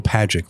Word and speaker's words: Pagac: to pronounce it so we always tell them it's pagic like like magic yeah that's that's the